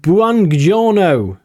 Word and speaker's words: Buongiorno: We've got Buongiorno. That's how you pronounce it.